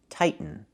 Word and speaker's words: tighten: We cannot pronounce a t as a fast e. The word is pronounced two different ways. You can say tighten and make a real tighten. Or you can make a stop tight and then go to the end.